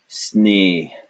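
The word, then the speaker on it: स्नेह: This is a s followed by ne. So that part of it is sneh, and then we just add the at the end, because at the end we pronounce it like, and so this would be sneh.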